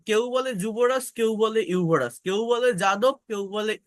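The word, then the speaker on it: Yuvraj: সিং বলি আমরা দেখবেন নামের স্পেলিং এ কিন্তু থাকে ইউরাস ওয়াই থাকে কিন্তু আমরা বলি যুবরাজ দেখবেন এই যে যাদব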